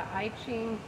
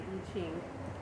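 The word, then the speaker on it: I Ching: n g and sometimes will call it the iing I don't speak Mandarin Chinese but I'm pretty sure that's not a correct pronunciation so which is fine if you want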